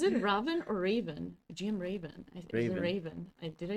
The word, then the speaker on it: Raven: GM Raven.